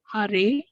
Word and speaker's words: Hare: The words Hare pronounced Hare, Krishna pronounced Krishna, and Rama rhymes with drama are Sanskrit words.